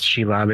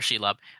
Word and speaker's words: Shelob: Shlob. Shlob. I believe it's Shelob. It's usually pronounced that way in the games.